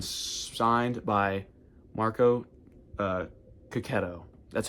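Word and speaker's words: Checchetto: Ultimate Spider-Man #1, signed by Marco Cacchetto. That's how he said to pronounce it.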